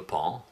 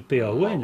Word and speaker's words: paon: Oui, Oui, bah, comme le pan. Comme On le dit pan, oui, oui. oui. une D'ailleurs, bête je me demande aussi. pourquoi on dit pan, parce que ça s'écrit P-A-O-N.